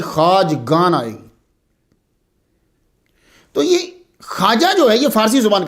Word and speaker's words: خواجہ: آجامیر کی خواجہ، اس کا تلفظ جو ہے وہ خواجہ ہے، لکھا جاتا ہے خا واو الف اور جیم آگے پھر وہ ہا، تو خواجہ نہیں پڑھیں گے، اسے خواجہ پڑھیں گے، جمع اس کی خواجگان